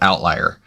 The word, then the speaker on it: OVTLYR: So part of what we have been doing is working with a company called Outlier, and that is spelled OVTLYR.